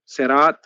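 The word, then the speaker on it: صراط: The word Sirat uh, um, in Surah Al Fatiha is pronounced with Seen and Saad.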